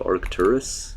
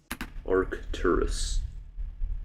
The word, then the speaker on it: Arcturus: There's an arc and then there's a turus. You know it's a star and I'm I'm pronouncing it how you pronounce the star.